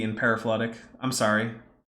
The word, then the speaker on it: paraphyletic: It's paraphyletic. I tend to err on the side of I've absolutely butchered a word Oh, I rather mean, than oh wait, I said it right.